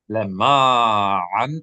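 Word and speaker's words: לְמַעַן: You see the cantillation mark is telling you accent this syllable. Lema'an. Ma. Lama'an. Good. How many syllables is this word? 2 or 3? Lema'an. 3. That's right. Lema'an. You should hear 3 distinct syllables.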